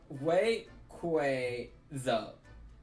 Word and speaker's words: Rayquaza: Oh, Pokemon's officially gave a pronunciation of Rayquaza. It's Rayquaza. I'm sure this is Star World.